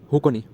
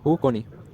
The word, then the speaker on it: Xukakhoni: हुकोनी। हुकोनी, spelling है XUKAKHONI, हुकोनी, ठीक है।